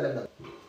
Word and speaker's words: verdad: En espagnol, la verdad. La vérité, c'est la verdade. La verdade. Attention, la verdade. La verdade. D'accord. Et le D, tu le prononces pas spécialement, pero ella dira la verdad.